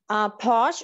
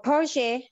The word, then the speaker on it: Porsche: I want to know about Porsche or Porsche. Okay, so in English we say Porsche, but Italian you say Porsche. So just say Porsche if we're speaking English.